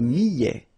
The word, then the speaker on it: millet: Le millet, here, I, and then double L, so I, millet. A T at the end, open, millet.